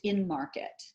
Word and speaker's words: MNMRKT: your company was called is it mnmrkt yes pronounced in market the the conception was